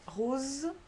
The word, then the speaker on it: rose: Second case was in between two vowels, and here you have rose, so Z, or grosse, S, désert, dessert.